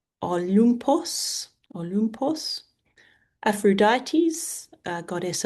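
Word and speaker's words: Ὄλυμπος: Uh, Olympus where the gods live is Olumpos.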